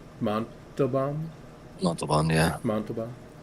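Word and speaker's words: Montalbán: K in you know whatever how do you pronounce his name Monto bomb Monto bomb yeah Monto bomb yeah yeah everyone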